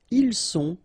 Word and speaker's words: ils sont: final S not pronounced, ils sont, final T not pronounced, elles sont.